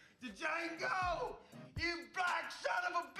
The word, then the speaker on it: Django: to Django! You black son of a bitch! The D is silent here, baby.